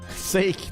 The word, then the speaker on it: sake: the sugary red bean they drink non-alcoholic sake sake that's good that's the best pronunciation hahaha Thank You TIA since we really